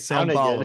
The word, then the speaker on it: São Paulo: Gustavo was giving me Portuguese pronunciation lesson before we started this video. You did great. Sao Paulo, good. perfect.